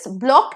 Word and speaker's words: bloc: The next pair is block and block. Same pronunciation, different spelling.